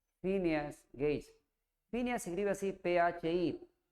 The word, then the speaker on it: Phineas Gage: Se llama Phineas Gage. Phineas Gage. Phineas se escribe así, P-H-I, Pi.